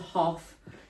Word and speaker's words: Hoff: The brand's called Hoff, not as in David Hasselhoff, but spelled like that H O FF.